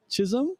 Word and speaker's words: Chisom: Her name is Chisom Mm-hmm.